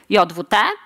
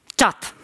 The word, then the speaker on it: JWT: like JWT as a Polish native speaker I pronounce it Yatta but the correct way is taught let's take a look at the spec the